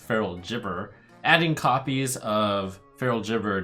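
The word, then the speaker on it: Feral Gibberer: a rules clarification for I'm being told that it's pronounced feral chipper adding copies of feral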